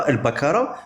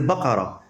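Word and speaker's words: البقرة: bien comme il faut c'est pas al bakara c'est bakara tu sais ce que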